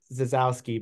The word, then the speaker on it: Zasowski: it's pretty fanatic but the S is pronounced like a z so Z yeah well